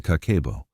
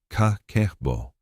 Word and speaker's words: kakeibo: Begin with the kakeibo, pronounced ka-ke-bo.